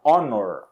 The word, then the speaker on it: honor: trabalha em um hospital se o h não fosse pronunciado por exemplo na palavra Honor Honor aí a gente